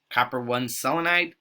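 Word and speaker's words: copper(I) selenide: which is negative one copper one selenide and that's how it's actually pronounced the row you don't say copper roman numeral you just say say the number copper one selenide c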